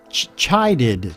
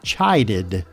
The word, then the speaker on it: chided: more Moto was well phonetically we're going to spell it like this cha you see the CH there and then you know the word I like your eyeball chai chided chided or to child someone